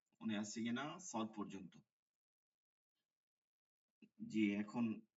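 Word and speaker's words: زاي: জাল জাল র যা এই যে ঝে হবে না ঠিক আছে এই যে যেটা পড়তেছেন এটা উর্দুতে জে এটা হবে জা যা আরবিতে সব ফাত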